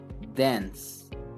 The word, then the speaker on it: dance: siguiente Ah bueno este de dance termina con e pero esa e final no se pronuncia como si terminara como un sonido de s Dance Dance Sí si se lo imaginan terminan hasta ese sonido es s Okay la e no cuenta entonces no hay problema